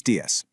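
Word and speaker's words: días: Buenos dias. Notice that little accent mark on the letter I in dias? That means you put a little extra punch right there.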